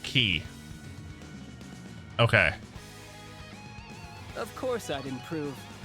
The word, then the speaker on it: Chi: Chi, the Greek letter. Okay. I wasn't too familiar with that one. Pronounced key.